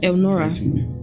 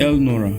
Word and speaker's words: Elnora: It's E L then Nora. N O R A L Nora.